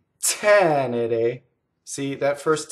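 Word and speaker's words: tenere: Now, the accent in the word tɛnere is on the first syllable. That is not common in Italian when you have a three-syllable word. Most of the time in Italian, your stress is on the second to last syllable. That's the most common stress. And if you notice in this one, it's tɛnere.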